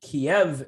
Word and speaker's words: Kiev: the country basically the kiev area i like to say kiev and not kiev i can't stand people who say keeve i don't know why